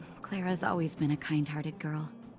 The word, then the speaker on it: Clara: it comes to names, I train myself to say, pronounce A as ah instead of a sharp A. Because I have like members of my family that go by like Anna instead of Anna.